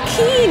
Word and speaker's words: Kean: way it's spelled. I say Kean.